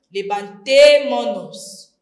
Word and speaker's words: levantémonos: Levantémonos, no se dice levantémonos, no. Se pierde la S final de la primera persona del plural.